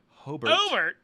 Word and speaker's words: Hobart: Yeah, but it's pronounced Hobart. Hobart, Indiana, which it said that on as you walk on stage, it said pronounced Hobart.